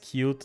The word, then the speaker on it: Qt: think that's probably it it's pronounced cute never there's nothing cute about this thing uh help them grey